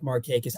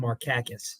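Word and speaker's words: Markakis: I love Nick marus I don't think I could ever call him maracus no there was a there was one MLB the Show game I don't remember what year it was but they they had him programmed as marckus and that was that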